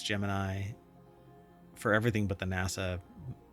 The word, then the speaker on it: Gemini: But anyway, they're going to deep dive from developers the latest on Google Gemini or Jiminy if they pronounce it that way. Some people pronounce it Jimny, but it's Gemini for everything but the NASA uh operations.